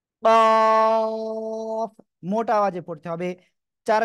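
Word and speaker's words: ق: এই অক্ষরের নাম কি কফ মোটা আওয়াজে পড়তে হবে চার আলিফ টানো হবে কোন জায়গা থেকে উচ্চারণ হবে জানেন জিহ্বার গোড়া তার বরাবর উপরে তালুর সঙ্গে লাগিয়ে উচ্চারণ করবেন কাফ একসাথে বলেন কাফ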